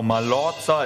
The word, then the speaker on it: Mallorca: Reiseziel schmale wahrscheinlich oder Mallorca wäre das gleich ausgesprochen genau Mallorca ist richtig auch die Aussprache ist absolut korrekt